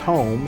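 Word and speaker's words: Hume: Our clan name is spelled H-U-M-E, but it's pronounced home, so it was Clan Home.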